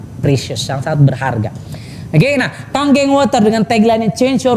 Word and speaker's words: Kangen: Nah, Kangen ini bukan kangen bacanya Bapak sekalian. Ya, kebetulan nama saya pula, kayak nama sebuah band gitu kan. ya itu. Oke. Nah, bacanya Kangen, artinya back to origin